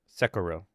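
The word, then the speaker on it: Sekiro: Even Japanese doesn't stress any syllables. Just Sakuro.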